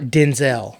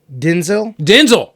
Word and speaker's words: Denzel: Yeah, it's not Denzel. No, it's Denzel? Denzel. There you go.